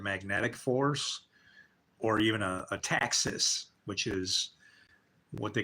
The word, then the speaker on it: taxis: And you actually spell it like taxi with an S, like taxis, but it's taxis.